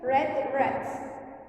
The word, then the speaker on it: read: okay what is okay writing is the same but when we say read read write when we say okay for pronunciation red red okay green red red because it's red again good she hasn't read